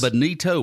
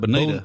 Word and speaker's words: bonito: Bonito or bonita? Bonita, what we say, but bonito is how it's spelled. You shitting me? I've had this wrong my entire life. Bonito is the spelling of this. It is a bonito. We have said bonita.